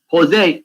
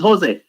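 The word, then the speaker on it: José: pronounced just right it's pronounced ha right like Jose it's spelled yeah oh yeah oh yeah right so it's not your day it's Jose so we go to the restaurant my brother's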